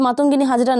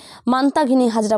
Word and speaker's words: মাতঙ্গিনী হাজরা: দেশের ৭৭তম সাধারণতন্ত্র দিবসের কুচকাওয়াজে পশ্চিমবঙ্গের ট্যাবলো প্রদর্শনের সময় স্বাধীনতা সংগ্রামী শহীদ মাতঙ্গিনী হাজরার নাম ভুল উচ্চারণ করে মান্তাঘিনী হাজরা বলায় তীব্র ক্ষোভ ছড়ালো বাঙালি সমাজে।